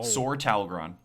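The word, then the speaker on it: Sor Talgron: Sore Talgrron.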